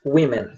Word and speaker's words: women: Figures Ending Violence Against Women. Tá certo? E eu vou de novo fazer uma observação, né? Por que que eu tô pronunciando women, mas não é woman?